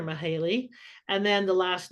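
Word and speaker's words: Mihály: and still can't but the first name is m i h a l y mahali or mahale and then the last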